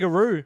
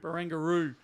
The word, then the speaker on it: Barangaroo: I never know how to pronounce it. Barangaroo. Barangaroo.